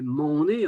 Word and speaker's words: Méné: Méné peut être prononcé Mané. En vérité, on dit Mané, par exemple, mais on écrit Méné, hein.